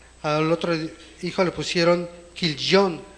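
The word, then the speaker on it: כליון: otro hijo le pusieron kilon así se pronuncia en hebreo killon y significa dolor desfallecimiento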